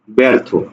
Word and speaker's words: ব্যর্থ: লিখলাম ব্যর্থ লক্ষ্য করো প্রথম ব্যঞ্জনে কি আছে জ ফলা আছে তাহলে এটার উচ্চারণ তখন কি হবে এ হবে এ তাহলে ব্যর্থ থকারে থ ব্যর্থ ঠিক আছে ব্যর্থ আর